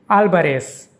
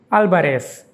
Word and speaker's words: Álvarez: V is pronounced like B. And the ending is like S, not Z.